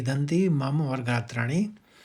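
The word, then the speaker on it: गात्राणि: और गात्राणी यानी पहले गात निकलेगा। फिर त्राणी निकालिए आप।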